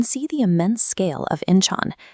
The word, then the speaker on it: Incheon: Looking at this high angle view of the terminal floor, you can see the immense scale of Inchan pronounced inch international airport.